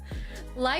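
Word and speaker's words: lychee: Li is Hawaiian pronunciation as well as close to the Asen pronunciation. Lii is the American pronunciation. Okay. Well, I like Litechi better anyway, so I'm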